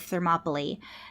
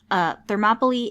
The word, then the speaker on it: Thermopylae: find out more information about the Battle of Thermopylae then I recommend the book I used primarily